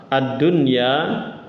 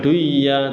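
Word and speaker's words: الدنيا: nah ini satu sehingga dia izhar mutlak dibacanya jangan duya tapi ununainal jahima hial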